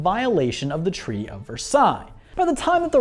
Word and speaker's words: Versailles: by the Treaty of Versailles or as Americans would say the Treaty of Versailles Lee because we only use Elle's if we're gonna pronounce them anyway the Treaty of